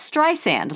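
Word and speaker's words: Streisand: she told him it's St sand like sand on the beach how simple can you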